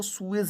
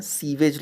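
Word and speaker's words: sewage: Divide of सूएज, इसको सूएज ही पढ़ते हैं, सीवेज लोग कॉमनली पढ़ते हैं, सीवेज इसको लिख भी देते हैं हिंदी में, लेकिन सूएज इसका करेक्ट प्रोनाउंसिएशन था।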